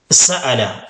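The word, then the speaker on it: سأل: Kagaya po ng sa'ala, sin na may fatha, sa, hamza na may fatha, lam na may fatha, la, sa'ala. May ibang mga estudyante na ang kanilang pagbigkas dito ay sa, la. Okay? Mali po yun sapagkat short vowel lamang po ito. So, diretso po ang pagbigkas natin sa kanya.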